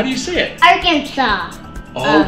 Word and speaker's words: Arkansas: do you see it Arkansas oh we don't say the S that's interesting it's like saying applesauce but with no s applesauce okay can you